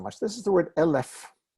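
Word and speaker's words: אלף: this is the word lf lf it has nothing to do with elves lf means a thousand right and like melech and parrots it's accented on the first syllable all right we've done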